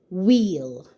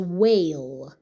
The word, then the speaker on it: whale: And this And this word is whale. Whale. What are the sounds in the word whale? W A Whale. W A Whale. And how do we spell it? W A L E whale.